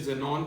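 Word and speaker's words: Xenon: And zinc से जेनॉन, इसे जेनॉन pronounce करते हैं, राइट कराई से रेडॉन।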